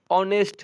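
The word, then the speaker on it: honest: चलिए ही इज ऑनेस्ट है। देखिए ये भले एच लिखा रहता है लेकिन उच्चारण किससे होता है इसका? ओ से होता है।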